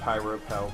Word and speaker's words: Pyropal: Side note, I always pronounced it Pyropal, but that's just me.